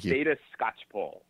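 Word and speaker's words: Theda Skocpol: all no no no I'll help you out here data Scotch Paul Scotch Paul who's a political sociologist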